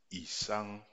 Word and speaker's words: Isang: C'est donc un I ayant un ton bas qui sera lui I et non I ou I, c'est I, I, le I bas, I. C'est pourquoi on prononce Isang.